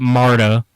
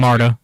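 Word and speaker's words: Marda: you won't mess up Marta cuz that's m a r d a that spelled phonetically yeah uh Jana's pretty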